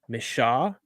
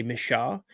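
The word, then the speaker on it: Michaux: Pennsylvania to camp deep in the I can't pronounce it. M I C H A UX. Misha. I want to say Misha. Mishaw State Forest.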